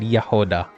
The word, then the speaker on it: Jahoda: The J is pronounced as a Y. I know that because I listened to Ineffa's voice lines and she said Jahoda. So Yoda, but with an H.